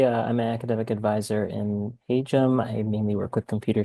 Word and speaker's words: Hajim: So, as you may have heard me say, the engineering school is pronounced the Hum School.